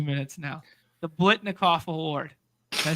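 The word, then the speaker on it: Biletnikoff: The Blitnikoff Award. Did I say it right? You did. Blitnikoff.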